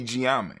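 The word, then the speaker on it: Gye Nyame: We say Gye-Nyame, right?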